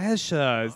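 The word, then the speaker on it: Ke$ha: Kesha, that's how you say it.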